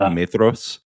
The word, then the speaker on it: Maedhros: it bothers me that the DH in Tolkien is supposed to be like the, so it's supposed to be like Maedhros, and that bothers me, so I don't do it.